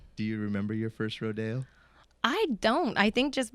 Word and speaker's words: rodeo: So we do the traditional pronunciation rodeo.